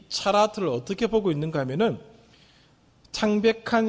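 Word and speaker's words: צרעת: 그것을 오늘 다양한 모든 피부병을 차라트라고 발음을 한다는 것입니다. 그리고 우리가 이미 레위기 11장에서 살펴보았던 것처럼 정결한 음식과 부정한 음식을 나누는 그 부분을 살펴보았습니다.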